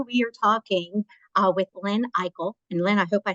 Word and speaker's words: Ikle: It's Ikle, but it. it looks like Eichel, and I answer to Eichel. I love that. I'm actually going to write that down just so that I say it properly for now I usually on. say Eclair. It's like eclair, just take out the R, I like like that.